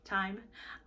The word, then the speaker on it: thyme: mint mid notes of sage and thyme that's how you say it right time I definitely get some